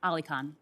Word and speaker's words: AliKhan: I want to make sure I pronounce it. AliKhan, is that right? Is AliKhan, is that it? Yes, Senator. AliKhan.